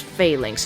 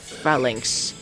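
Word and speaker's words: Falinks: failinks switch in that's failinks it's pronounced failinks not Finks oh God Rock try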